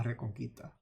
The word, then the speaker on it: Reconquista: He doesn't know how to say it, but La Reconquista.